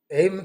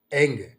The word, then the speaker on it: ऐं: आप direct ऐंग ह्रींग cling चामुंडाय विचे, एम के जगह पर एंग करना, म की जगह कर एंग, एंग एंग आप उच्चारण करेंगे एम, तो आपको ये हृदय की जो धड़कन है ये धड़ नहीं होगा।